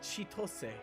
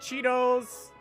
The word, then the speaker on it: Chitose: you say his name you don't say chitose which is his name it's like Cheetos I've heard Cheetos which is great like